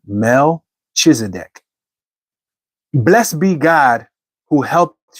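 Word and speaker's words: Melchizedek: This is King Melch. I guess that's how you would say his name. Melchisedc.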